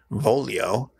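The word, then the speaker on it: voglio: a word in it volio v-o-g-l-i-o which has that weird GL I sound and Bloom isn't quite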